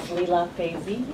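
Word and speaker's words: Lila Feisee: names thank you start first my name is Leela FY and I'm the vice president for international Affairs at bio and my name is spelled l i l a f e i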